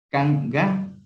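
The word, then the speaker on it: kanka: O el Kanga, El primero, K, se lo pronuncia como K, y el segundo como Ga. Kanga, que significa, ¿y tú?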